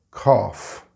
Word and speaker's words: cough: For example, if I say cough, then you may write C-O-F-F or K-O-F-F, because this is more phonetically closer to the word than C-O-U-G-H, which is the actual word.